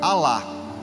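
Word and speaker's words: אָלָה: como maldição em hebraico se escreve e se fala alá aá em hebraico significa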